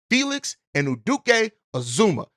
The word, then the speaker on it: Felix Anudike-Uzomah: Felix Anudike-Uzomah.